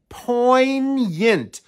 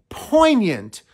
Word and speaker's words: poignant: stirs up emotional feelings it has two syllables the stress is on that first syllable you see that G get rid of it and there's a hidden y right after the n and we say it as poent poignant the words to that